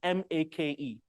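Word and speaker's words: Makemake: One of the names of this dwarf planet is written like this, M-A-K-E, M-A-K-E. We will call it make, but it's pronounced make.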